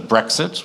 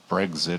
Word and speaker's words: Brexit: as a noun it gives the pronunciation of brexit which is not like breakfast it's not brexit it's brexit and then its definition